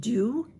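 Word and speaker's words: Dieux: Treasure Trove and um I think this is pronounced do it's d i eux these are forever eye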